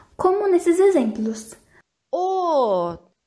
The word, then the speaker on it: 옷: As demais letras, quando estão sozinhas, como patim, têm som de T mudo. O som é simples e curto, como se nem tivesse sido pronunciado. Como nesses exemplos. 옷. 옷.